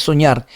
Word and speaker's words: soñar: Soñar, no es soñar, es soñar. Primero, ¿qué hago? Identifico la sílaba tónica y si termina en R, no lleva tilde.